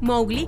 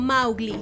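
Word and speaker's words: Mowgli: ningún idioma número 53 mowly está mal anunciado en realidad kipling lo pronunciaba como maugli este error no lo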